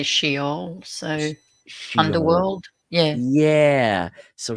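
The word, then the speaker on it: Sheol: we have in the Glasser yeah we say shol so underworld yeah yeah so sh sh like it be spelled in in English s h e o l right shol but it's pronounced sh uh is the grave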